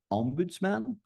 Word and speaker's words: ombudsman: Ombudsman, that's how you pronounce it, like smorgasbord.